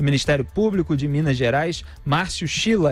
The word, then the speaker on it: Márcio Schiller: E nós temos aqui na linha procurador de Justiça do Ministério Público de Minas Gerais, Márcio Schiller, é assim que se pronuncia.